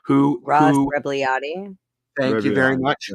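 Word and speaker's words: Rebagliati: Ross Ragabludi, I can't pronounce his name. Ross Rebliati.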